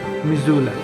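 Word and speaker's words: Missoula: যদিও আমি মিসোলা বা মিজোলা উচ্চারণ করছি। কিন্তু স্থানীয়দের কাছে এই উচ্চারণটা হচ্ছে মিজোলা।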